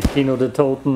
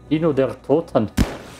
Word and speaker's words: Kino der Toten: If you run Kino der Toten a lot of times. Did I just pronounce it English? Kino der Toten.